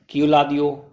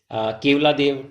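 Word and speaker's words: केवलादेव: अब इसकी प्रोनाउंसिएशन कोई बोलता है इसको क्यूलादियो, ठीक है। कोई इसको बोलता है केवला देव, ठीक है।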